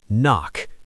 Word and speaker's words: NOC: nonofficial cover. Knock, pronounced knock.